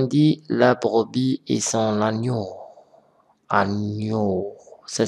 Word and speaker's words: agneau: Par exemple, ici, on dit la brebis et son agneau. Agneau. Ça s'écrit de cette façon.